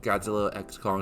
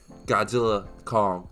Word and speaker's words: Godzilla x Kong: is the review of Godzilla X Kong the new sorry Godzilla Kong the new Empire x is silent so I was supposed